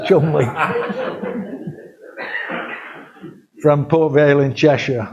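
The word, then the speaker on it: Cholmondeley: Chumley. How do you teach anybody to pronounce that as Chumley?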